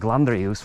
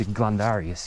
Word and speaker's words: glandarius: of you know sometimes say something like gandus where it's glandarius you know so yeah